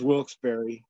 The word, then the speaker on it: Wilkes-Barre: That's why he says you're pronouncing it wrong, because it looks like bar, but it's berry.